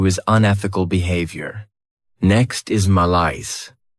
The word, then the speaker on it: malaise: Next is malice. This word has 2 syllables, and the stress is on that second syllable.